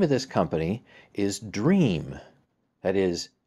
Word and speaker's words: Dreame: of this company is dream that is it's spelled like dream would normally be but it's got an e at the end d-r-e-a-m-e so let's see